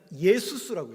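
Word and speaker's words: Ἰησοῦς: 첫 번째가 아이가 아니라 예수.이 이 예수라는 단어가이 아이로 나오는이 예수이 단어가 어떻게 읽냐면 예수스라고 읽어요.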